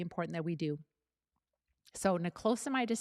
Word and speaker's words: niclosamide: but it's very important that we do so nicosamide is spelled n i c l o s n i c l o s a m i d e a m i d e all right and